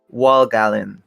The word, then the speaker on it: Walt Gallen: kotomasho and yeah yeah the pronunciation is you can just call me wall if you want but yeah it's wall gallon wow like okay gotcha